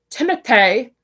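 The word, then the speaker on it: Timothée: Like okay, his name is pronounced Timothy.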